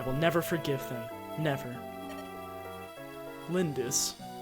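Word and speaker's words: Lyndis: never forgive them never lindis less emphasis on the second syllable I'm not running away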